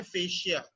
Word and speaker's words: fascia: और correct pronunciation उसका है fascia.